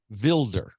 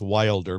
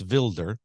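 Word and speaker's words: Wilders: a gentleman there by the name of Gert vilder spelled like we would in America pronounce Wilder but it's vilder Gert vilder he's the new president of the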